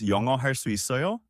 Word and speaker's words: 영어 할 수 있어요: The pronunciation is 영어 할 수 있어요?